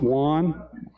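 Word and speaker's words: Wonn: His last name is spelled W-O-N-N, pronounced Wan.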